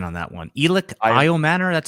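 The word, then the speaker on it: Elic Ayomanor: Good good pronunciation on that one. Elio Manor, that's how you say it.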